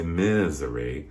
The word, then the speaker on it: Missouri: I don't want to say Missouri. I don't want it to sound like misery, because it's not.